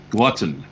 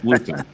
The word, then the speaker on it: glutton: had books I think the word is pronounced Glutton not gluten Glutton ah I like